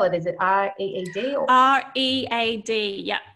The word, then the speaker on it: Reed: Is it R-E-E-D or R-E-A-D? Yeah, so Reed, okay, like read reading a book.